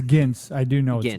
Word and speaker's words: Gints: I have no idea how to pronounce the filmmaker's name. Gints Zilbalodis. Yeah, it's Gints. I do know Gints. it's Gints.